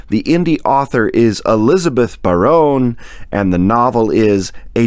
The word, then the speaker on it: Barone: Anyway, Elizabeth Barone, and Elizabeth, if that's Elizabeth Barron, and I'm pronouncing it incorrectly, you have my sincere apologies. It is Barone.